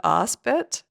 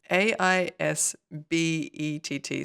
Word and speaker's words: Aisbett: I want to say this is definitely not how you pronounce her surname, but I want to pronounce it Aspet. It's Aisbett.